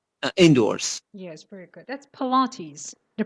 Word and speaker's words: Pilates: That's Pilates. The pronunciation is Pilates.